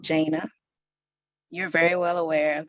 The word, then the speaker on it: Jana: It's pronounced Jana.